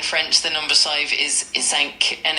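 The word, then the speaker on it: cinq: In French the number five is isank and it's spelled c i n q u e.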